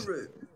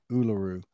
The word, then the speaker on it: Uluru: I still want to know how to pronounce Uluru. You Uluru, just and did it. No, I did. just It's Uluru. that one. Well, all right, Uluru, That's it.